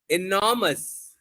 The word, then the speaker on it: enormous: And here you can say enormous. Enormous. Stress will be on NOR.